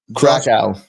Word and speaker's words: Krakow: Krakow. Krakow? Did I say it right? Say it. Krakow. Krakow. Yes, sir. Krakow. Krakow. Yeah, it's Polish.